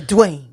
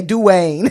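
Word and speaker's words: Duane: know why but it's always spelled like d-u-a-n-e and they say Dwayne like it's like it's yeah Dwayne we say we say we say do Wayne it's like two syllables when we say b-a-w-a-s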